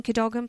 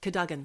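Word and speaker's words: Cadogan: California not in California in the bedroom in kogan place buried under a pile Kagen kogen Kagan it's pronounced Kagan Kagan Kagan I know it's spelled kogan but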